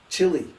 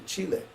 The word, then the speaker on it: Chile: Just like everybody in America, they pronounce Chile, Chile. Yes. Oh, you went to Chile. Well, actually, no, I went to Chile. Because doesn't it make sense to pronounce the name of the country in the language that's spoken in that country?